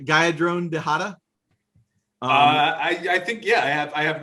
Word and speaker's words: Geyadrone Dihada: That is Geyadrone Dihada. Did I get that right? Geyadrone Dihada?